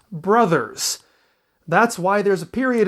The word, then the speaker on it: Bros.: See, BROS is the word pronounced bros. BROS period is an abbreviation pronounced brothers.